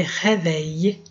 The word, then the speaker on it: réveille: John se réveille. Réveille. O E, aqui, o I, L, E, é como se fosse um I, depois um E. O L não é pronunciado aí.